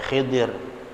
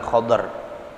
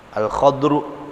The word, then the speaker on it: Khadr: Ya, kemarin udah saya ceritain nih ya, waktu saya ngaji sama guru saya langsung, ini bacanya Khadr apa Khidir, guru saya bilang Khadr, ya, Al-Khadru, Sayyidina Al-Khadru alaihi salam.